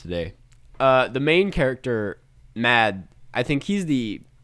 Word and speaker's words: Mads: uh the main character mad i think he's the is it mads or matt i think it's pronounced just mad that's silent but he's not he